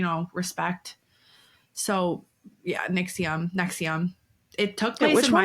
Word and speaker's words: NXIVM: um yeah NX IVM all capitals pronounced Nexium and I'll probably say it wrong because I've overread it